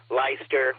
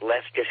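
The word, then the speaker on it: Leicester: like all those other British town names, Lyster, which is like Lester or whatever.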